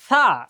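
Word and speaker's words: ث: অতএব এই উচ্চারণটা সা, এই সার উচ্চারণটা কখনোই ওস্তাদ ছাড়া আমরা পারবো না। সা, জিহ্বা বের হবে, সা, সা, আমার মুখের দিকে একবার খেয়াল করলেই হয়ে যাবে ইনশাআল্লাহ। জিম, এটা ইজি, জিম, জিমের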